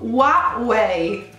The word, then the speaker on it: Huawei: decisamente qualeil h non si pronuncia ed è pronunciato huawei ok quindi a capua one way huawei ok